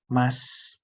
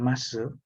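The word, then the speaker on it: ます: Nah, itu kenapa kita harus pelafalannya mas, bukan masu? Karena emang hyogeng kita atau pelafalan kita bagusnya atau formalnya seperti itu.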